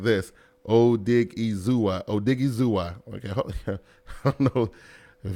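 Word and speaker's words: Odighizuwa: His name is pronounced like this. Odigizua.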